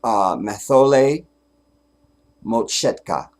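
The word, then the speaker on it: Mathole Motshekga: Mathole Moshetka. Because African names, every letter is pronounced. There is no silent anything. So it's Mathole Moshetka.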